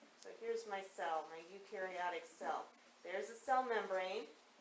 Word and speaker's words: eukaryotic: eat this is the eukaryotic cell you rhymes with dew which means the eukaryotic